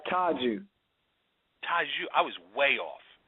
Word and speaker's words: Tajeu: It's Tajeu.